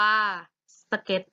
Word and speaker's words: สเก็ต: เหมือน มี สระ อะ คำ ว่า สเก็ต อ่าน ว่า สะ เก็ต สุด ท้าย ทำ ว่า